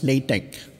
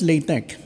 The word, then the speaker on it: LaTeX: This is pronounced as LATEX. Not LATEX.